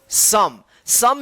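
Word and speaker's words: some: इसी तरह से यहां पे देखिए एस ओ एम ई क्या पढ़ेंगे इसको सम भी नियम के विरुद्ध है नियम के अलग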